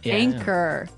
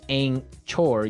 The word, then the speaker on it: anchor: Anchor. Anchor. Anchor. Now, it's spelled A N C H O R. Right? But you don't pronounce the ch as you normally would, right?